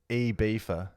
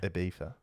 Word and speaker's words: Ibiza: Ibiza. No. It's Ibiza. No. Ibiza. No. Ibiza. Apparently, I've never heard this either. Okay. Apparently it's Ibiza. Okay. Ibiza.